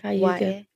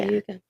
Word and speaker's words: Cayuga: It's I can see the way it's spelled. It's Caguya. Cayuga. Yeah. Cayuga.